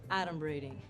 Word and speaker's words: adumbrating: Okay, first of all, it's pronounced adumbrating.